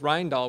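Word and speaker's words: Rijndael: there's serpent there's a million different things there's rindal which is actually what AES really is um which is probably pronounced pronounced wrong I got it right excellent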